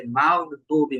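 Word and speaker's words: مغضوب: নামাজ পড়ার সময় খেয়াল করবেন যে মাগদুবি মোটা হচ্ছে কিনা। মোটা হলে সঠিক উচ্চারণ হবে।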